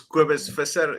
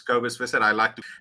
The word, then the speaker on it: Kobus Visser: Ladies and gentlemen, dit is Kobus Visser. It's some people that are English is difficult to pronounce, but it's Kobus Visser.